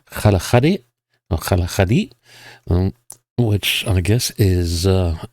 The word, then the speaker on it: Kgalagadi: Uh apparently it's pronounced something like Kalahadi which I guess is uh a local way of saying the Kalahari.